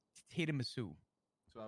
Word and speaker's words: tiramisu: Spark note: the correct enunciation or pronunciation, I should say, of tiramisu is tiramisu.